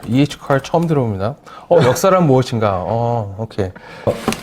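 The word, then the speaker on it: E. H. Carr: 미국식으로 하면 EH 카. car. EH car 처음 들어봅니다.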